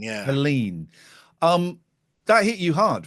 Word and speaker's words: Helene: Because that, how do you pronounce it? Helene, yeah. Helene.